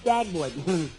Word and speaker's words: Dagwood: Look, my name is not Deadwood, it's Dagwood. Look, Costello, I think you're the worst boy in our neighborhood.